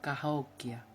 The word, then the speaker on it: Cahokia: Aunque en aquel tiempo los indios americanos no tenían lenguaje escrito, el nombre de la ciudad pronunciado ahora se escribiría algo así como Cahokia, y Gran Sol era conocido y respetado en todo el corazón del continente.